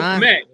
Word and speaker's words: Kmet: Kmet rhymes with Jet.